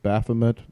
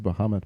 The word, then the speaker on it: Baphomet: You mentioned Pensacola, and you mentioned this big, statue of Baphomet or whatever. I thought it was Bahamut, but maybe I'm confusing the two. I'm the one that said it wrong. She said it right.